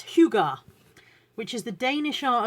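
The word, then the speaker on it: hygge: Now, I always presumed it was Hig, but it's not, apparently. It says on the front how to pronounce it. It's Huga, which is the Danish art of living well.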